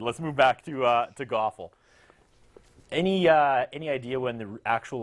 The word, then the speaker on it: GOFL: Yes, that rhymes with awful, but they've already won me over. You're far from awful without. You're far from GOFL without the G.